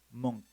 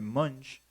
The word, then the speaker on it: Munch: Algunos le llaman Edward Monk, como la CH al final se escucha como K, o se debe de pronunciar como K, Monk. Pero otros, pues nos gusta llamarle Munch, porque es más como se puede leer en español, Munch.